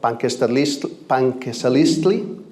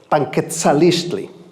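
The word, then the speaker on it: Panquetzaliztli: the tradition of and it's called Panquesalistli, and I'm actually mispronouncing it because there's another Z or a T somewhere. I'm going to get it right this time. It's called, Panquetzalistli.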